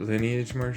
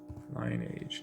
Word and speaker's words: lineage: Lineage, not lineage. What are you doing over there? So you don't know when to stop, do you? You gotta hit me for saying lineage when it's spelled lineage.